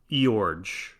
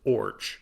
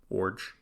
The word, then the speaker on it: Iorg: According to a 1985 New York Times article, the name is Danish and pronounced Orge. And that is also on Baseball Reference, just O-R-J, pronounced like orange with no N, Orge.